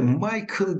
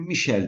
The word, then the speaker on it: Michel: Separated, şöyle Michael diye okuyanlar da olabilir. Bunu Michel diye de okuyanlar olabilir. Yani milletlere göre farklı telaffuzlar var, onu da söyleyeyim.